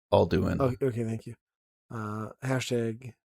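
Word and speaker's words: Alduin: Epic Quest to defeat aluin alun I don't know the world eater it's it's pronounced all do in okay thank you uh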